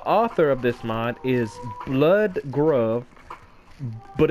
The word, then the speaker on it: Bludgruv: The author of this mod is Blood Grove, but it's not blood, it would spell the U. I'll spell it out.